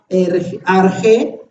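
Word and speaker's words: ἀρχή: ven lo encerré en la palabra arjé Así dice la palabra griega y color verde así se pronuncia y se traduce como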